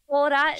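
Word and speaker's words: コラッタ: Colrata, and then like a little ts, and then ta. Like there's two t's.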